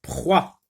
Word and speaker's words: proie: Une proie. Proie, c'est un mot qui se compose d'une seule syllabe. Proie. Pr avec quoi, ça se lit wa, et le E, c'est une lettre muette.